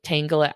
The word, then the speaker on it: Tangela: to say the name Tangela out loud because I'm pretty sure the Pokemon's name is pronounced Tangela, but I have met in real life a woman named Tangela, Huh.